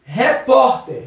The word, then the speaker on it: repórter: como paroxismo vamos aqui repórter repórter repórter percebeu que o vó é mais forte termina com r é